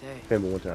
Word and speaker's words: Fimbulwinter: Fimble Winter, I said it right.